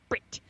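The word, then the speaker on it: Bret: includes Brit McKenzie Brit Brit you have to say it like that Brit um Germaine and taica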